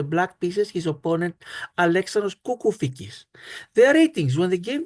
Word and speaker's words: Κουκουφίκης: Konstantinos Tsιάμης, who is a FIDE master, and Alexandros Kukufikis. Kukufikis, his correct pronunciation.